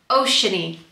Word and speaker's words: Oceane: was one but then some people were adding the e on the end so then you pronounce it oceany ah it's kind of